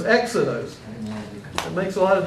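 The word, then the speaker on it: ἔξοδος: acute accent if you if it was a rough breathing how would you pronounce that hexos hexadus but you don't have the rough Brea you have the smooth Brea so it's exodos it makes a lot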